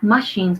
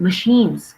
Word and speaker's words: machines: Okay, not machines, but machines. Quick, machines. Machines. Okay, the stress is on the second syllable.